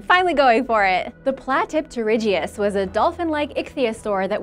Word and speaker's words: Platypterygius: Platypterygius. Some of you helped me out the other day when I asked for advice with the pronunciation, so thank you! I'm finally going for it! The Platypterygius was a dolphin-like ichthyosaur that was around during